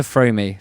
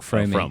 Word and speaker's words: Froome: back to Fromey, the quaint Somerset town, not the full-time Oh, is this a real place? friend There's a of real David Fromey? Rosman. Yeah, no, Frome, not Fromey.